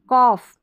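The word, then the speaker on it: cough: फिर यहां पर देखेंगे कॉफ कॉफ यहां पर जी एच को क्या पढ़ रहे हैं फ पढ़ रहे हैं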